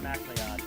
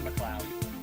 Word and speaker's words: MacLeod: Oh, no, I'm not talking about just Kevin MacLeod or McLeod. Both are acceptable. One is the Scottish pronunciation.